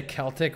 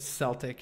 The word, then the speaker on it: Celtic: Rewire your brain to say Celtic with a K sound at the start.